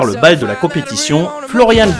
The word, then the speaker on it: Florian: bal de la compétition Florian V son prénom se termine par les lettres A n en allemand les deux ensembl se prononcent Anne comme dans animal et non an comme dans ban sur lequel il est